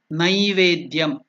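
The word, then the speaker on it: नैवेद्यम्: Generally in South Africa they will pronounce this as nei. It is not nei, it is nai. Naivedyam. People wrongly pronounce it as naivedyam. It is not naivedyam, it is naivedyam.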